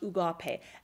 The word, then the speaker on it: agape: It's the agape love. agape love, spelt A-G-A-P-E, but pronounced ugape.